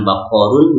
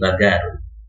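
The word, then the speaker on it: بقر: berganti menjadi gitu ya atau diucapkan G seperti mengucapkan baqorun menjadi bagarun bagorun jadi qnya itu kadang-kadang terdengar G ada beberapa orang Arab yang terbiasa mengucapkan seperti maka dalam bahasa kita terdengar ada kata gamis gitu ya had omis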